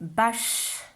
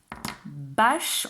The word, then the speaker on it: bâche: Alors, pour les mots, qui ont le E muet, j'explique aux parents. Par exemple, le mot bâche. Bâche, on compte les syllabes orales en maternelle. Donc dans bâche, je tape une seule fois dans mes mains.